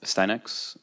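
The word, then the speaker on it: Astyanax: I'm the author of Steinex, and for anyone using it and not knowing how to pronounce it, there you go.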